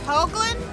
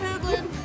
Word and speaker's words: Hoogland: right again it's hoagland like roosevelt okay not england not roosevelt hold glenn i always just say pronounce it like you would pronounce hoagy carmichael or a hoagie sandwich someday we're going to